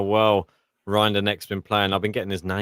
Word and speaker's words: Rinderknech: Considering how well Rinderneck's been playing, I've been getting his name wrong for some reason. I kept on calling him Anders. It's Arthur Rinderneck.